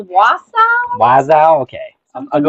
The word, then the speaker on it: Wausau: I know it's not Wazoo. Okay. I think it's Wausau.